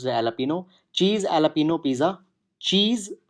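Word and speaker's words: jalapeño: Lupino Pisa okay so J is silent air so it is pronounce the jalapeno cheese a Lupino Pisa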